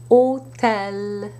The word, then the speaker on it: hôtel: However, if you put an accent circonflexe on an O, you must pronounce it as a closed O sound, not an open A sound. So you would have, for example, bientôt. Côte, hôtel.